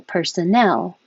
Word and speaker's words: personnel: this one is employees personnel and the stress is on the last syllable personnel this one is the